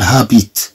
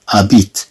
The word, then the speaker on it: habite: لا نقول هابيت نقول هابيت كأن هاد اش لا تنطق غوني هابيت غوني هابيت